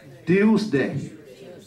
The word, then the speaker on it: Tuesday: Trước Wednesday thì gì tuesday tiêu nhớ mình ăn thộc tiêu đó đọc là tiu là đúng R đọc là Tuesday